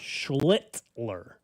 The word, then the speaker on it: Schlittler: I was saying what you're afraid of, but I found out it's Schlittler.